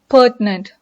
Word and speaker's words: pertinent: Pertinent. Pertinent. And here you have a T-I, but you should have the I sound silent. You have to pronounce it as pertinent.